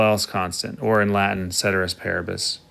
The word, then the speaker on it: ceteris paribus: constant or in latin ceteris paribus caters paribus i'm not a latin scholar some people say that's the correct pronunciation i don't care if